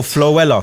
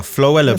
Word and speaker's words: Floella: Oh, flua. Floella Benjamin Benjamin.